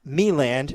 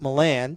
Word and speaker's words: Meland: correcting me that uh gunner's last name is pronounced meland not milan so i apologize to